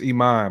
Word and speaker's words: Iman: was again what what is it really it's Iman but I wanted you to say what you